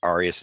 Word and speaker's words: Arias: I believe it's pronounced Arias.